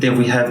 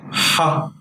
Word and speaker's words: ح: This may be confusing to you, but ha is different from he. Ha is deeper than he. It's guttural from the throat. So imagine pronouncing he with the air coming out of your mouth, but you have to cut it.